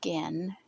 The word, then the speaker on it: Gen: Uh, it's about a little boy named Gen and his name is Japanese, so it's spelled G N and it's a hard G.